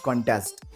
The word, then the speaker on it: contest: For example, consider the word contest, which has two syllables, con and test. You can either put stress on the first syllable or the second. The word stress on the first syllable is a noun that means competition. The word with stress on the second syllable is a verb that means to oppose something.